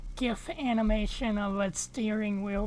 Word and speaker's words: GIF: Now all I need is a little like GIF animation of a steering wheel being turned. Actually, it's called a GIF. A what? GIF. A GIF? Oh my god.